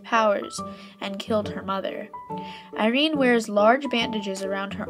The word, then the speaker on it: Eirene: pretty cool character and the way it's spelt is a bit different normally Irene would be stilled ir e and ii but in this case it's e ir e and yes that's the Greek way of Sonja and there's